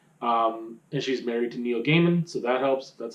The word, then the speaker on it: Neil Gaiman: her music again um and she's married to neil gaiman so that helps that's how you pronounce his name the author um but uh